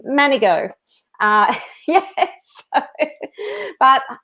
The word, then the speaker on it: Manego: with pronouncing my surname everybody struggles with it but it is actually manigo uh yes but it's